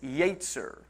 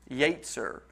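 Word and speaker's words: יצר: the original hebrew is yetzer yatzer i wrote down the pronunciation to help me i can't remember how it's spelled but in the pronunciation it's y-a-y-t-s-e-r just yates and it means mind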